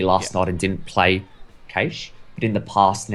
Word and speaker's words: Cache: I think Cache, as we pronounce it, not Cash, even though it says that on the header, is actually quite a strong map for Chiefs.